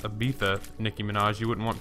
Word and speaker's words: Ibiza: It's pronounced Ibiza, Nicki Minaj.